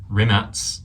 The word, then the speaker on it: Rimac: Rimac, as it's pronounced, unveils new EV battery that charges faster than filling up a gas tank.